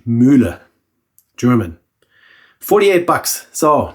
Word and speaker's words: Mühle: So R41 Müller, that's the proper pronunciation. Müller, German.